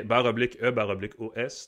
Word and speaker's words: /e/OS: ça se prononce pas. C'est /E/OS, donc iOS, mais dit en tout cas différemment ou écrit différemment.